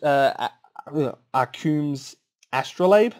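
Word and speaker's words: Arcum's Astrolabe: mana selection uh manufacturing sorry um so ash are coombs astrolabe that's how it's pronounced um i love this when this was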